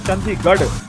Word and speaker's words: Chandigarh: So in Hindi, see, like say for example Chandigarh, it is written as R, but it is pronounced as Chandigarh.